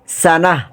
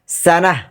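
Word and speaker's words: سنة: সাফি বোকাবা নির্বোধ এটা কোরআনে এসেছে সাত বার সানাহ বা সানাতুন সানাতুন সানাতুন সানাতুন ওয়াকফ করে পড়লে সানাহ মনে রাখতে হবে ওয়াকফের সময় আমরা যখন কোরআন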